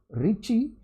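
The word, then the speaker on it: Ricci: in indices which is called the ricky tensor usually it is pronounced as a richie in the italian spelling so r a b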